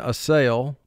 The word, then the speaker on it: assail: a great deal but we would pronounce it in conversation a sale but for spelling ass sale first syllable is ass